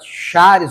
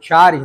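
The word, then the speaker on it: χάρις: A palavra graça, em grego, é a palavra charis ou charis, dependendo da pronúncia.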